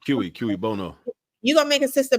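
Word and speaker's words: cui bono: studied Spanish and Japanese it's quono or how do you say that no K Bono you gonna make a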